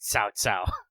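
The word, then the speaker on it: 曹操: Why is it written cow cow, but it's pronounced Cao Cao?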